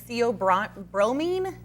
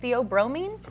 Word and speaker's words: theobromine: It's got a higher caffeine and theobromine, is how you say it, theobromine level.